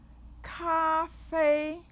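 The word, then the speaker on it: 咖啡: Cafe. Cafe. Listen again. Cafe. How many syllables do you hear? 2? That's correct. What tone do you hear in this first syllable? Ka. Correct. The first tone.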